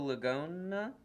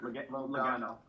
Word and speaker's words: Logano: Gogo Lagona? Is that how you pronounce his name? Logano. Lagano? It kind of rhymes with go-go, that's how you know.